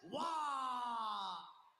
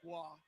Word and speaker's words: Waugh: And his opponent in the blue corner, Actually, Sebastian Waugh. Not related to Patrick Waugh, but pronounced the same way.